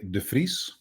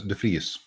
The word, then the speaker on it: de Vries: So it depends. The Dutch in general will say de Vries. Oh, I really butchered it. Okay. But I will pronounce it as de Vries.